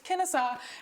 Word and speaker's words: Kennesaw: I remember going to nationals sometimes and having officials come up to me and they'd be like, Kennesaw? And I was like, it's Kennesaw.